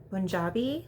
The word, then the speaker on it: Punjabi: have parents that are Punjabi which is spelled with a P but pronounced like more with a B sound and that's the area